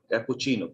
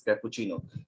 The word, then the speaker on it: cappuccino: English people or we also happen to use as cappuccino, pronounce it as cappuccino, but the correct pronunciation is cappuccino.